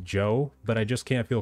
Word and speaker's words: Zhou: Also, I do know it's pronounced Joe, but I just can't feel comfortable calling her that, so I have to go with Zhou.